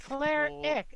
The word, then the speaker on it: Cleric: Cleric is 2 syllables. Just say I Claire. know. It's okay. Cleric. It's okay. Don't worry about how it's written. Just say Eric.